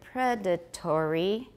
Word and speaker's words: predatory: For some, the word predatory has how many syllables for me? Has four. Predatory. But in British, predatory. How many? Predatory.